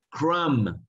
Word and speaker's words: crumb: Crumb, crumb, crumb. O migajas, las migajas que dejan las galletas, por ejemplo, son de crumb, crumb. No se pronuncia la B.